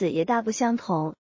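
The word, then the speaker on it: 还: The word "huan" can be read as "huán", which means return; it can also be read as "hái", which means something else .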